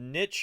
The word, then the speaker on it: niche: Niche is usually how Americans say it, but I just kind of like how niche sounds, and so I often say it in the European way, but it's arbitrary.